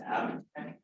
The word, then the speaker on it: AbTech: Okay, page 1 of 23, AB Tech Technologies Incorporated, $11,000. What is that about? Is it pronounced Abtech? Oh, Abtech.